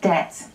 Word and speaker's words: debt: So today I'm going to talk about some other silent letters, and I'll start with the B, the silent B that we get in things like debt and doubt.